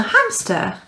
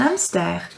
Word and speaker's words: hamster: because as we know in french the h is always silent you don't say a hamster you say and an amster right let's move on